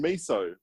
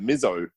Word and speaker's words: miso: a Z from in miso? And in Japanese, it's miso. But, it's not that far from English. How do you get mizzo?